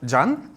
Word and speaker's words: Jan: Um, first of all, It's pronounced Jan.